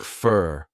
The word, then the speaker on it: for: for the meeting tomorrow for when it's unstressed has more of a reduced sound a quick sound it sounds like fur fur the meeting you all